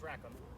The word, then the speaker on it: Rackham: It's Rackham. Like Rackham is the way it's spelled.